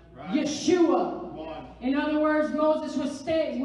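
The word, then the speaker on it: ישוע: still and see yeshua guess how the name of jesus is pronounced in hebrew yeshua in other words moses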